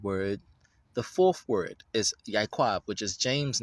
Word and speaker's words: Yaakov: So that's Yaquab, but they say Yaakov with a V. There's no V's or biting of the lips in the Hebrew language. So that would be a little bit of a Yiddish sound effect or Yiddish prophetic. We don't bite our lips to pronounce Hebrew.